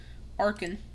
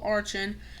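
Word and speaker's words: Archen: Yamask, Coffrigus, Tertuga, Kacosta, Arkin, which I used to call Archin.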